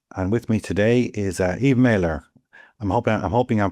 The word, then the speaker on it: Eve Maler: And with me today is Eve Mailer. I'm hoping I'm pronouncing that correctly, Eve.